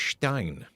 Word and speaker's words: Stein: Uh, whenever we talk about him, we pronounce his last name as Stein, like German because he's pretty much invaded the whole of Padto.